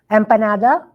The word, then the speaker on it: empanada: Empanada.